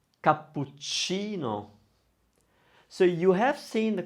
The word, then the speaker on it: cappuccino: It's spelled with CA at the end, isn't it? Versace. Leonardo da Vinci. Cappuccino.